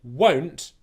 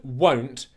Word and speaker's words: won't: It's made up of 3 parts. You've got the first part, which is w. You've got the second part, which is the u. And then you've got the third part, which is n't.